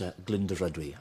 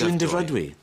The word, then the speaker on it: Glyndyfrydwy: I think it's Glyndyfrydwy. Glyndyfrydwy. I think the R is silent. Dyfrydwy, right. So it's Glyndyfrydwy.